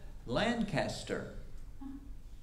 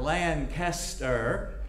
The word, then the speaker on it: Lancaster: going to ask them, how do you say the name of this place? And you're going to find out, it is not Lancaster, it's not Lancaster, and it certainly is not Lancaster.